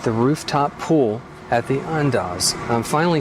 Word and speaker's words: Andaz: we are at the rooftop pool at the unas I'm finally saying it right I'm so proud